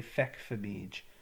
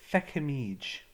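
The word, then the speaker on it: feicimid: Or some people would pronounce this with the F, they'd say fecfamige. Most people would say fecamige.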